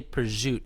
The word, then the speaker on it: prosciutto: so it's like prajut why did they say prosciut instead of prosciutto i mean it's just something that the lads over at the delicatessen in me came up with to save time that extra syllable baby